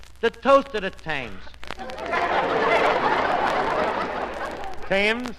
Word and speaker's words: Thames: Thames? Archie, if you're thinking of that river in Paris, the word is Thames. That's the French pronunciation.